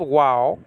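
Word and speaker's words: ו: It's called wow, okay? And but this is pronounced wa or that, if you will, okay? Well, according to biblical Hebrew, it's really with a W sound, okay? But you can pronounce it in either way.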